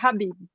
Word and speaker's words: Khabib: Não tá errado falar Khabib, mas a pronúncia dele, a correta é Habib.